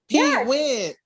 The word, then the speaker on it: Pete Wentz: Pete Wentz.